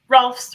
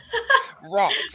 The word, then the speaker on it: Rohlfs: Rohlfs rhymes with golfs. Rohlfs.